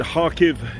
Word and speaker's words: Kharkiv: of is uh it's ukrainians pronounce it harkiv it spell it looks as though it's about kharkiv but then the uh heck